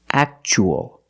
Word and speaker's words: actual: So the T is pronounced ch, actual.